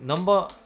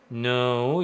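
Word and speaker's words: No.: 나 이제 학생들한테 그 넘버 3라는 그 발음을 이제 얘기해 주려고 요거를 책상에다 딱 적어 놓고 칠판에다가요.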